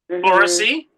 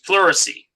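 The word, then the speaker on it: pleurisy: Puricy. Okay. That's specifically for um that's specifically for the lungs. Puricy. That's spelled P L E U R I S Y.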